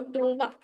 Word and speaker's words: Dumas: Christo Alexander Duma yes Alex Dumas or Duma actually pronunciation is Duma okay and who wrote